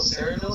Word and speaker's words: Sayreville: Sayreville, is that how you say it?